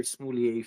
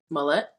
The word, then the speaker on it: Smollett: My heart goes out to the entire Smoulier family.